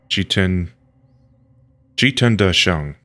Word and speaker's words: Qítiān Dàshèng: What How do you pronounce that name? Let me just check. Qi Da Sheng. Okay. Qi Tian Qi Tian Da Sheng.